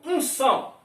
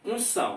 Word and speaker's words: unção: Então esse também aqui é dígrafo, porque a letra N não tem pronúncia.